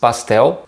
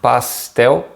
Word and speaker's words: pastel: again the name is pastel pastel and it's important to mention that in brazilian portuguese the l at the end of the words has this very short sound it doesn't sound like an l it's different from the